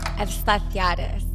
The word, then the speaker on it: Efstathiadis: Efstathiadis.